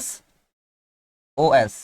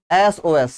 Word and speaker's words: SOS: এটাকে বলতে হবে SOS। কি বলতে হবে স্যার? SOS। সস বলা যাবে না, বলতে হবে কি বলতে হবে স্যার?